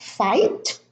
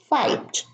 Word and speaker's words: fight: In the first group, the GH are in the middle: fight, sight, light, tight, night, bright, height, eight. They are all preceded by a vowel, by I, and also followed by a T. Fight. It's not fight, not sicht.